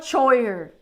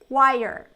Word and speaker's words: choir: you know this pronunciation it's not choer because we see the CH W it's choer ch no it's nothing like that it's chir it has like nothing